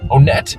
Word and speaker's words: Onett: thing we don't joke about is how to pronounce onet onet is the way to say the name of